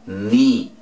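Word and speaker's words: knee: con esta otra laca antes de la n en palabras iniciales tampoco suena hay que colocarla pero no suena ahora now rodilla ni cuchillo night ok vieron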